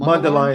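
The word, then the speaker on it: Mundelein: his head coach recently about him this is mundeline is that how you pronounce it m mundeline Illinois yeah mundeline Illinois Carmel Catholic quarterback Trey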